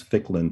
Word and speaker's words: Ficklin: liz i'm going to my last name um is only two syllables and it's ficklin but people still have